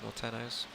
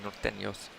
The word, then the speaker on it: Norteños: So Jesse does have nepetas, does play down the side of Nortenos. Sorry, Norteños. I'd like to, obviously I've been brushing up on my Spanish pronunciation.